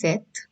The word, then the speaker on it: cet: discussing before this so cet pronunciation is set this demonstrative adjective we